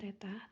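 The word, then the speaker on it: θ: ini ya n = 360° dibagi Teta ini bacanya Teta Teta derajat dikurangi satu ini rumahnya sudah pasti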